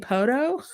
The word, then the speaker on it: Poteau: So Stacy called me one day and said, "Do you know who works in Poteau?" And I said, "Where?" She said, "Poteau." And I said, "Oh, do you mean Poto?" So she didn't quite know. That's how I pronounce it because there's another town called Shoto, which is spelled Chateau, and it should be chateau, which is the French word for castle or palace. But it's not. It's Shoto. So it's like the T is a D, and you just kind